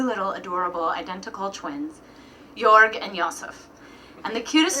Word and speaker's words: George: me and my little brother George, actually pronounced Jorg, weasel.